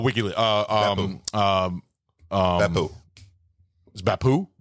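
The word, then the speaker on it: Beppu: uh um um um beo beo beo not beu well I'm thinking French it sounds French that's what C Chase's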